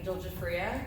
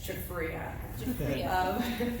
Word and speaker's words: Giuffria: My name is Giuffria, and you will hear that pronounced a million different ways on the internet. So for anyone that's going, oh, wow, that's how you say that, it's Giuffria.